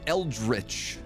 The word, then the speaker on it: eldritch: will also be flying is eldri the right way to say it El eldrich is the right way